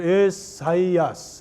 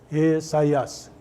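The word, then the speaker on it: Ἠσαΐας: 오른쪽에서 에사이아스 이렇게 읽죠. 에사이아스. 여기 이런 발음이 있으면 발음이 부드럽습니다. 이게 거꾸로 하면 헤사이아스인데 이게 에사이아스.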